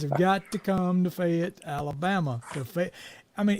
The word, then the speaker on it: Fayette: got to come to Fayette Alabama I mean it's spelled f-a-y-e-t-t Fayette but it's really fit yeah it fit Alabama